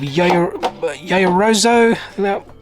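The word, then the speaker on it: Yaoyorozu: We have Yayorozo. That's how you pronounce her name.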